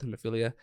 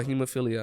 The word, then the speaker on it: hemophilia: it because they deal with this disorder called hemophilia. It's a bleeding disorder, and so that's what you were talking about earlier. So you're a big advocate, and how do you say the disorder again? Oh, hemophilia.